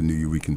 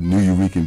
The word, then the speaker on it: Nuyorican: Tonight is the Arnold Lee Band at the New Eurekan Poets Cafe.